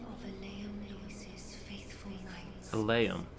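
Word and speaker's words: Eleum Loyce: Elaeum, not Elium. I've been saying it wrong all this time.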